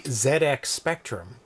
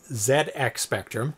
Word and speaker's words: ZX Spectrum: Europe UK specifically um it's pronounced Zed X Spectrum just like zero page